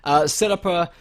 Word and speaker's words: setupper: But I found through the this setupper, that's what it's called, I'm not mispronouncing, setupper, like Parappa.